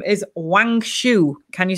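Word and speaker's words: Wangshu: goddess of the moon and her name is wang shu can you spell that w a mhm i'm afraid the usual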